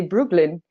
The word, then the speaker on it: Breukelen: The first one is Breukelen. Sharon already showed you on the map where that is. And if you're curious about how to pronounce it, you can also say Brooklyn.